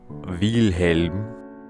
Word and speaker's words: Wilhelm: killing me oh God I can't call him Wilhelm let me pronounce this right wheel helm we all call him